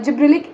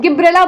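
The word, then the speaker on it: Gibberella: पास में जो है जिब्रेलिक एसिड जो है यहां से राइ हुआ था ठीक है गिब्रेला बोललो या जिब्रेल बोललो दोनों सेम चीज है आप जिस तरीके से प्रोनाउंस करो जो आपको बढ़िया लगे ठीक है इसके बाद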